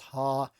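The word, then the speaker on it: ἡ: This is pronounced ha here. So let's write out our omicron and then the rough breathing mark that makes that ha sound.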